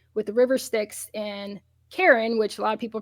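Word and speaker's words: Charon: the Greek mythology with the river sticks and Karen which a lot of people pronounce charin um c h a r o n unfortunately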